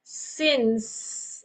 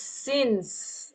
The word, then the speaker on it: since: The words are since. Okay, no sin, it's since.